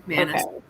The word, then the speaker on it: McManus: Yeah, the Karen McManus, is that how you say it? Yeah, Okay, McManus.